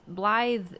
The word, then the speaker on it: Blythe: You know, I just realized Blythe, his name is pronounced the same as the word Blythe.